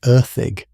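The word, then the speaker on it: Erddig: They had remembered their servants, Erdig, pronounced for those of you wondering something like Erig.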